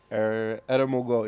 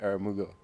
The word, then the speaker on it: Eramugo: Eramugo is the way how you say it in my language, but you can say Eramugo.